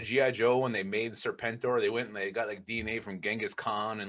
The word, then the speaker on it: Serpentor: I mean, there's some key guys there, but Serpento does not sound familiar. Serpentor. You gotta say it right.